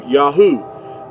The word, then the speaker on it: Yahuah: These first three letters here, going from right to left, is going to give you Yahuah.